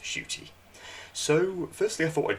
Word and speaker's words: Ncuti: psa for anyone who doesn't know it is pronounced shooty so firstly i thought i'd just discuss you